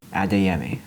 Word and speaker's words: Adeyemi: Adeyemi, okay.